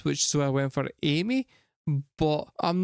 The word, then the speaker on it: Aimer: which I saw is Amer was actually pronounced it was like the chat was telling me it was pronounced in like kind of French way of saying that word which so went for Amy but I'm not 100%